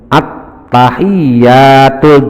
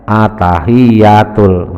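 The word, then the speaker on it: التحيات: salah tidak boleh hilang contoh umpamanya attahiyatul dibaca atahiyatul dari tadinya sudah sudah hilang attahiyatul atau attahiyatul berarti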